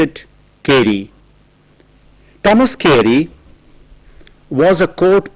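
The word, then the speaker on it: Carew: as c a r e w k so pronounce it kry Thomas kry was a court poet he was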